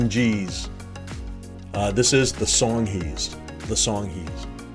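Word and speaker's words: Songhees: in an area called this which i've heard pronounced as song jeez the song jeez uh this is the song he's the song he's there was a killer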